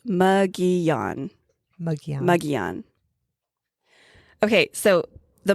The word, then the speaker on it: Mogollon: So this guy is known as the muggon monster. And that is how you pronounce it by the way. M O G O L L L O N. It's not Molan. It's not Molan. It's not Mgoan, which is how another podcaster pronounced it.